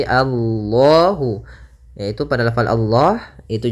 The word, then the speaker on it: Allah: besar Kemudian pada lafal Allah di sini lam tafhim lamnya harus dibaca dengan tebal bukan Alla tapi Allahu yaitu pada lafal Allah